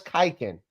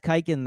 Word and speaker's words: Khaykin: you you added that kiken there as a political statement in what's happening right now don't pretend that's not what you did no I'm just kidding uh it's it's a silent k yeah so anybody would